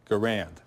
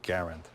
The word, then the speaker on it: Garand: garand which is it people often call them garand but it's really garand french-canadian family came down when he was 12 years old but he carried that name and that pronunciation all his life he worked here from